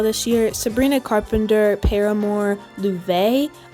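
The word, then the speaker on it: Laufey: Sabrina Carpenter, Paramore, Louve. I almost said it wrong and said Luffy cuz that's what I've been saying out loud for the longest time, but apparently that's wrong, so I'm going to get cancelled for that one.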